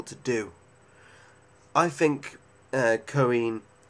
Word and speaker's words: Cohen: do I think uh Cohen is how you say it Cohen Cohen I think